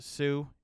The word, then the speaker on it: Hsu: Jeremy, I'm assuming this is pronounced Sue, HSU.